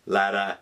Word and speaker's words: Latta: Starscream wife's favorite and Chris Latta or later as some people like to pronounce it Starscream how can you